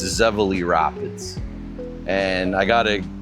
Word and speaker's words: Zevely: So, that's where the name Zavala comes from and it's commonly mispronounced as Zeverly. There is no R. It's Zavala Rapids.